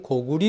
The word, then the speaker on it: 고구려: 자 지금까지 두번 강의에서 고구리 고구려 는 고구리 로 읽어야 된다 고려는 고리로 읽어야 된다 하는